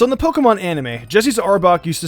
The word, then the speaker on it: Arbok: that was how it's pronounced but it's actually pronounced arbok no freaking crap not really a Pokemon but